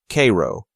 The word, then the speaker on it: Cairo: must always be correct especially tricky are homegrown pronunciations like Cairo Cairo Illinois and Charlotte Charlotte Michigan whenever in doubt